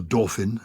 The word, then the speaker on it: Dauphin: Joan, the Dauphin, or the Dauphin, as they sometimes pronounce it, is a central character.